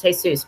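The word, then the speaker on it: Jesús: to remind myself to pronounce hey sis it's pronounced hey Suz because every time I would see the name hey soos I would want to say is Jesus there yeah so I'd be like hi this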